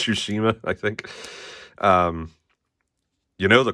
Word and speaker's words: Tsushima: Last of Us is a 2-pack, and Ghost of Tsushima. And if I'm saying it wrong, just deal with it. It's Tsushima, I think.